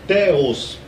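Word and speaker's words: θεός: funciona no português porque aqui em grego você pronuncia teos é até parecido com português né fonética parecida com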